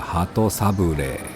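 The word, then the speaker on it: 鳩サブレー: Cách phát âm tiếng Nhật là HATO SABLEE. Kéo dài cách phát âm của chữ E cuối cùng.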